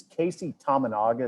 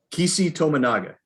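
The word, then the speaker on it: Keisei Tominaga: No injuries, and you think it's Casey Tominaga? Is that how you pronounce it? Kisi Tominaga.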